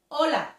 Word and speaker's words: hola: silent silent in spanish we don't pronounce the letter h when is at the beginning of the word for example hola for example hola so